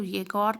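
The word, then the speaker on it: Yegor: योगर, अच्छा, येगोर smiled. आप इसको येगोर पढ़ो या योगर, वैसे इसकी राइट प्रोनाउंसिएशन येगोर ही है, क्योंकि रशिया में ऐसे ही प्रोनाउंस करते हैं येगोर।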